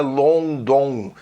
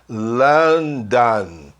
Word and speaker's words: London: E ele responde, London, reparem, não é London. Os americanos gostam de falar esse O-N com som an. London.